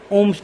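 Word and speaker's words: Ohm's: ये सब कुछ ओम्स ने दिया था। H भी होता था यार इसमें, H भी होता था, H साइलेंट रहता है करेक्ट कर लेना, ठीक है। OHM ओम्स लॉ, ये अंग्रेज लोग साइलेंट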